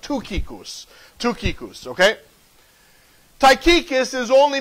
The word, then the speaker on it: Tychicus: actually uh in the Greek his name is pronounced TUS but for the sake of sounding funny while I preach we're just going to call him taus but his name is actually pronounced tuus tuus okay taus is only mentioned five times